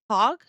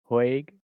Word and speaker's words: Hague: Pronounce with a strong A. Strong A as in stay. Hog? Yeah, Hague, the Hague Convention, 1899 and 1907.